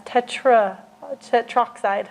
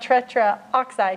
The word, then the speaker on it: tetroxide: That's tetroxide, okay, is how you say that. It's not tetraoxide. You don't have A and then oxide.